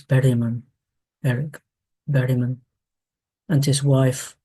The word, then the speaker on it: Bergman: He was a a friend of the Finnish composer Eric Bergman who I think we should pronounce Berman.